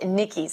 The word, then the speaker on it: Nikic: young man named Chris his last name is pronounced Nikki's I want to get it right became the first person